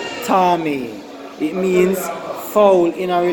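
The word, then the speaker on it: טָמֵא: is it is spelled cime and it is pronounced Tommy it means fall in our little sense define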